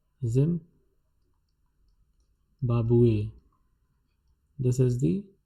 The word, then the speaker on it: Zimbabwe: In French, it is written as the same manner as it is written in English, but the pronunciation is different. Zimbabwe. This is the pronunciation. Zimbabwe.